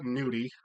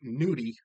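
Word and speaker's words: gnudi: Now when I say ricotta nudie, that's g n u d i. Kind of like how Ellie's noki that starts on a g, a silent g starts with a gn.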